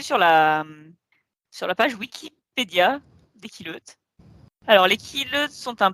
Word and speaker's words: Quileute: Il me Alors semble les que Quileutes, ça se justement- prononce Quileute.